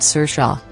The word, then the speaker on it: Saoirse: This is the second time the Irish-born Ronan, her first name is pronounced Saoirse, has appeared in a movie based on a McEwan novel.